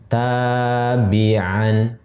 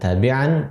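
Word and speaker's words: تبيعا: Menjadi tabi'an. Nah, kalau kita berhenti di akhir ayat misalnya, maka dibacanya bukan tabi'an, tapi bacanya tabi'a.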